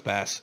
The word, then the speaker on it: Bass: No, it's Bass. BASS. I know. I keep saying bass. That's also bass. That's bass. What? BASS is bass. It's also BASS. bass and bass are both spelled the same way.